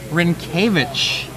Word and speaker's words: Rynkiewicz: Well, how is it pronounced again? Rynkiewicz. I would not have remember guessed that. I think I was putting at least the accent on the first syllable. It's Yeah, like Rynkiewicz Rynkiewicz.